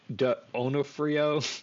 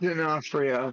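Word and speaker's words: D'Onofrio: after killing after killing Whitney Asher uh Vincent Donafhrio Oh god I did it again. Vincent Denafhrio Denafhrio.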